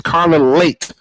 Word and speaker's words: Carla Leite: It's Carla Late as in being late for an appointment like I was nearly late tonight.